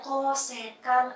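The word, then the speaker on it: cosec: Jadi dibacanya kosekan alfa.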